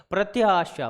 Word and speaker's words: प्रत्याशा: प्रति आशा, प्रति आशा, प्रति आशा, प्रति आशा, प्रत्याशा, प्रत्याशा, ऐसे बार बार बोल के देखो और